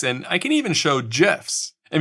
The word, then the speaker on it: GIF: I can even show GIFs. And before you comment and say I pronounced that wrong, how do you say giraffe? It's J, not G.